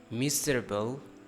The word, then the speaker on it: miserable: Miserable, miserable, miserable. Not an able.